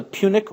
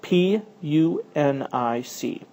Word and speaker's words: Punic: The struggle between them became known as the Punic Wars. And that is spelled P U N I C.